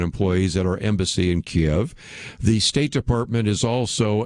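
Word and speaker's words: Kyiv: associated with Ukraine, because Kiev, Ukraine, is where we have our embassy. Now it's called Kryv, as how they want to be pronounced, but I'll just use the old pronunciation, if you will.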